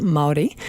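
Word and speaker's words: Māori: So the Maori is a native people. You spell Maori, and it's pronounced Maori.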